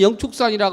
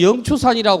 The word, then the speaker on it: 영축산: 의견을 분분하게 제시를 하고 어떤 절에는 영축산이라 그러고 어떤 절에는 영추산이라고 그럽니다 이거는 불교의 고유의 영혼이다 불교의 고유의 영어 영축이 맞습니다 나무를 남녀 남자인데 동서남북